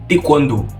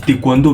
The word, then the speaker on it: taekwondo: Taekwondo. Là, je te prononce en coréen, on dit taekwondo, mais en français, taekwondo, bref, du taekwondo.